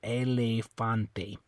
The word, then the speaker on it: elefante: So anyway, on this one, so anyway, even though the E's on the end, you're still going to make that A sound. Elefante.